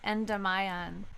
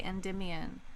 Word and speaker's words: Endymion: line in that song is like Celine and Enda Mayan which is not the way that people pronounce that name people say Endymion but and dim Ian does not rhyme with